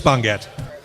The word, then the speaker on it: Bongat: He wrote, my last name is pronounced Bon as in bonfire, and Gat as in Gatling.